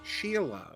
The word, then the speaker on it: Skyla: Apparently, everyone says his name wrong. It's actually pronounced Sheila. It's I believe it's Belgian.